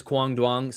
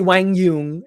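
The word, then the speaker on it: Quang Duong: which, by the way, he says that the American pronunciation is Kwang Duong. So suck it, everybody that tells me that I pronounce it wrong. It's Kwang Duong, okay? You could say Wang Yung if you're Vietnamese or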